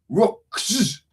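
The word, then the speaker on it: Ruhks: became Band of Rooks, R-U-H-K-S, Rooks, with two syllables, okay. Basically, it's just how you say Rooks after you've had a few drinks.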